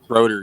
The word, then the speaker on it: Schroeder: Schroeder is Dennis Schroeder Schroeder you don't know who Dennis Schroeder is rotor he's German that's how it's pronounced I mean I'm going